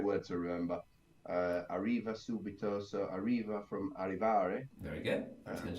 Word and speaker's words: subito: also similar to Veneto subito the accent is on the first syllable or the third last and not on the second last that's a similar category